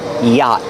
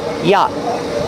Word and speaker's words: yacht: The vowel a is the open a sound like hot and stop together. Yacht. The T is a stop T at the end after the vowel. Yacht. Yacht. Stop the air with your tongue.